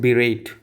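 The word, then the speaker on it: berate: चलिए next word next word is बीरेट। बी ई 2 बी ई आर ए टी ई बिरेट इसको कैसे पढ़ेंगे बी रेट इसको ऐसे आप प्रोनाउंस करोगे जो ये तरीका है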